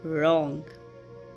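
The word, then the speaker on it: wrong: जब डब्ल्यू के बाद आर आ रहा हो तब डब्ल्यू साइलेंट हो जाता है, जैसे कि रॉन्ग, wrist, rap and right.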